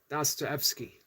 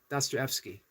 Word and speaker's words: Dostoevsky: Dostoevsky. So I'm relatively close. Dostoevsky. Relatively close. I've gotten the DOS and the Evsky. Correct.